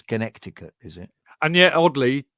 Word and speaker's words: Connecticut: those um those Western they always go Conneticut yeah that's because they come from America from America so they miss they like missing a few words and syllables Connecticut America America they go they go Connecticut without the sea but it really is Connecticut is it and yet